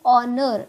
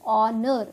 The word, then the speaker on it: honor: have put this and because in honor it is not honor okay it is honor which sound is coming your honor it is your vowel sound we have put here